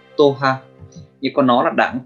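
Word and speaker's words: 党派: Cách đọc của nó là toha, toha.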